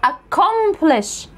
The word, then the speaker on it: accomplish: السي الاولى جت بعدها كي والسي الثانيه جت بعدها او، يعني مش اي او اي او واي، فهتتنطق كي. فسي وسي يبقوا كي بقى كده على بعضيها، يبقى واحده كي، يبقى اسمها accomplish، accomplish.